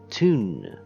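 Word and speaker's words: Thun: that it was pronounced th but it's actually pronounced tun off we go and tickets Please tickets please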